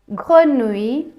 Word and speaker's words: grenouille: grenouille, citrouille, ratatouille இப்படி நாங்கள் அந்த உய் என்று சேர்த்து உச்சரிப்போம்.